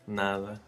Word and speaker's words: nada: The word nada, for example, you can say nada or nada, nah. Nah, it just goes away.